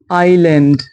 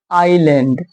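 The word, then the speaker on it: island: और S silent हो जैसे आइलैंड। आई लैंड। देखिए दोस्तों यहां पे एस साइलेंट है। इसीलिए हम आई को आई पढ़ेंगे और पढ़ेंगे आइलैंड।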